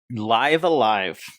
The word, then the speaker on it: Live A Live: No, perfect. Live A Live. That is how you're supposed to say it.